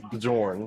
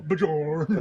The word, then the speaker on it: Bjorn: Do you know how many people don't know how to pronounce Bjorn? Bjorn. Bjorn.